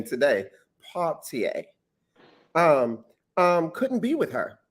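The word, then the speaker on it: Poitier: she made mention that harry belavonte and sydney partier paultier because we pronounced his name wrong but i learned how to pronounce his name today paultier um couldn't be with her they told her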